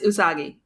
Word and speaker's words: Usagi: I was gonna pronounce. I always say it's not Usagi, not Usagi, correct? It's Usagi.